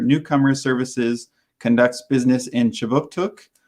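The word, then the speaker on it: K'jipuktuk: But before we begin, I'd like to acknowledge that Right Start Newcomer Services conducts business in Chibuktuk, which is how you say Halifax in the Mi'kmaq language.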